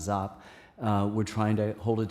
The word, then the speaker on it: Giap: It was led by Ho Chi Minh and General, we often say Giap, but pronounced Zap.